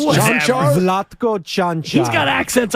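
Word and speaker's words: Čančar: But last night, it was Conchar, and I'm like, wait, the guy's name can't be Cancer. Yeah. It's almost spelled like Cancer. Is it Konkar? If it was Chanchar. Bahamian. Oh, it's Chanchar?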